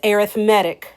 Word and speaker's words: arithmetic: Yes, it's the same word as arithmetic spelled the same, but it's arithmetic when we're talking about a sequence.